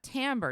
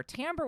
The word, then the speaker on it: timbre: distinguish it and differentiate differentiate it from the other English word that is spelled Timber which is Lumber uh and wood t-i-m-b-e-r which is more much more phonetically uh spelled so when